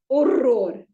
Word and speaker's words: horror: In Portuguese, it is horror. Horror. See, the R's are rolled, but we'll come to that later.